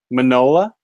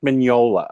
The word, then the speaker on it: Mignola: Minow manola lasagna manola so the G is silent manola somebody Mineola vignola Mike manola okay good somebody schooled